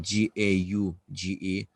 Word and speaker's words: gauge: about the gauge version the gauge you can write g-a-g-e of g-a-u-g-e you pronounce it gauge okay the gauge pressure